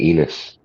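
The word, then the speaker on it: Ennis: I thought you were staying in Enos. Rhymes with penis.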